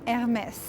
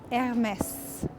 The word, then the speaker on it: Hermès: need to introduce anymore, Hermès. So pronunciation wise, it might be a bit confusing, but as good French people, you don't pronounce the H at the beginning. So it's just Hermès. But yeah, I really like their facade.